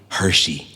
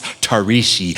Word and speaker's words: Tarishi: Started in 8th grade when a classmate called me Hershey. He found it difficult to pronounce Tarishi.